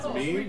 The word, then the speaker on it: meme: It's me. Yeah, I'm just gonna run away from these guys. Oh, it's pronounced meme, not me.